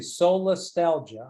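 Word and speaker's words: solastalgia: totally resonated with me but um can you spell that word for me yeah or say it slowly I say soul Nostalgia I got it yes okay do you want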